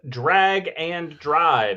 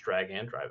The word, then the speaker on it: Drag X Drive: Uh on the 14th, Drag and Drive. It's It's written Drag X Drive, but it is pronounced Drag and Drive apparently.